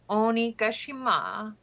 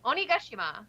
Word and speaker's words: Onigashima: for wano location of onigashima and wow i did not pronounce that correctly at all onigashima there we go with waldo most likely